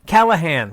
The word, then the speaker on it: Callaghan: I'm saying that right Callaghan Callaghan Callaghan the G is silent the Callaghan security series